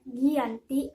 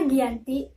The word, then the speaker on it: Giyanti: 13 Februari 1755m Hai nama Giyanti diambil dari lokasi penandatanganan kejadian yaitu di desa Janti dalam pelafalan Belanda ia tersebut sebagai kiyanti dan sejarah tertulis ia terbaca sebagai Giyanti sekarang tempat tersebut dikenal